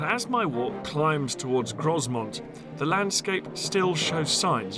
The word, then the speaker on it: Grosmont: around it is called grosmont but it's spelled much how the Normans would have pronounced it gromo meaning big hill the